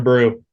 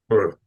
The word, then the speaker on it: Bru: Brew. He's gonna retire from football, go open up a brewery, and I'll go. It'll be great. Dude, he's got a so it's spelled BRU, but I would be